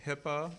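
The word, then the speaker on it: HIPAA: called the Hippa and Hippa sounds like hippopotamus but it's not it's spelled it's all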